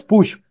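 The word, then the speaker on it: Puig: redes sociales Mario Alonso puik el apellido se pone puik p u i G puik digamos que que la pronunciación es pus pero se pone Mario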